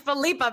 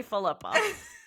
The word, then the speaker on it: Philippa: It's Felipa, Megan. I'm just Sorry. kidding. I'm just kidding. It's not. You said it right. Now I don't know. It's totally Philippa. Philippa.